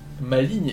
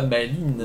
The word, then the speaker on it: maligne: Maligne et non pas maline. Oui. Dans la prononciation et pas seulement l'orthographe.